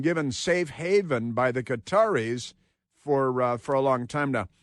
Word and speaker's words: Qatar: Israel has carried out a strike in Doha, in Qatar, which is pronounced Qatar and not gutter or gutter. It's Qatar because we speak English and it's the English pronunciation of Qatar, Qatar.